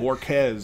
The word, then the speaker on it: Borquez: Borquez, there we go. Doesn't look like that. I'd have pronounced every letter. Quiz.